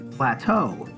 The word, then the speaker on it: plateau: some pictures of the plain flat oh that's pronounced plateau a plateau is a large area of high